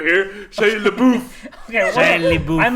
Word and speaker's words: LaBeouf: Shia LaBeouf. Shia LaBeouf? It's LaBeouf, you fucking idiot. Whatever. That's more conceding. It's like, like oh, Canadian I'm buff. over here. Shia LaBeouf. Okay, well, Shia LaBeouf.